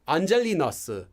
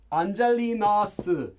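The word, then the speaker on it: Angel-in-us: the korean name and everyone pronounces this as angelinosu angelinosu um it doesn't really make any sense but it's kind of like angelina so you just say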